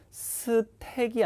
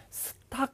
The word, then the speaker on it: stack: 동사일 때는 뭐뭇을 쌓다인데 발음의 팁을 하나 드리면은 여러분 S 뒤에 나오는 T는 된 소리가 되거든요. 그러니까 스택이 아니라 스택 이렇게 발음하는 게 맞아요. 그리고 간혹 이 제가 이제 현장 강의나 이런 데서 발음을 시켜보면은 스탁 이렇게 발음하는 사람들이 제법 있는데 스탁이 아니라 스택입니다. 발음이 스택입니다. 스탁 아닙니다.